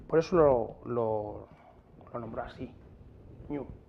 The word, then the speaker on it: GNU: GNU en inglés se pronuncia new, como nuevo, le gustó.